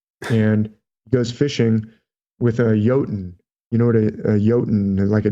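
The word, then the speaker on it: jotun: Thor goes fishing and goes fishing with a yotan in order yota naik a giant a frost giant it's spelled with a J but they pronounced their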